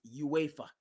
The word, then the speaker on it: UEFA: super league and uh, I pronounced it wrong. My buddy says it's UEFA.